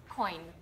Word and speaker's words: koń: Koń. Koń. Kind of like coin in English. A little bit different, but koń.